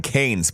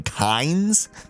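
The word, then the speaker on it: Kains: of three these days the kinds is that how they said I've been saying canes but they're saying kinds that's how you're supposed to pronounce it they said there's only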